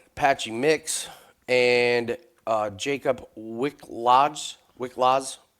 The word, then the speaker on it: Wiklacz: Wiklacz, I believe is how you pronounce it.